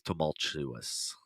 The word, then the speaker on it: tumultuous: oh okay all right and the word is tumultuous yeah there's no r in trouble uh try vanilla